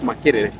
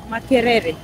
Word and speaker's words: Makerere: She might be here, or maybe at Worship Harvest Makere. Makerere. So that's the correct pronunciation.